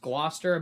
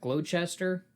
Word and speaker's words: Gloucester: you know that word it's it's pronounced Gloster but it looks like glow Chester c-e-s-t-e-r oh I know you